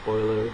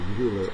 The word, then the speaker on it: Euler: and it doesn't matter whether I say Oiler as they say it in German or uler as they say it in English so uler uh began